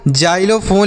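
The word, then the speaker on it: xylophone: तो लिखा हुआ है बच्चों जाइलोफोन लिखा है।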